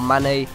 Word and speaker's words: Mané: right mid we have Maine or mané it's however you want to pronounce I pronounce it Maine um he's originally a